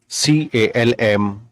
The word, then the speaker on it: calm: L is silent. ALMOND, amend. CALM, calm.